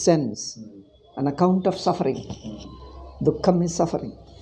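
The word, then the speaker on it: दुःखम्: Dukkham is suffering. Dukkha, how do you pronounce? Dukkham. Dukkham. I told you, Visarga followed by Kakha. Visarga becomes half.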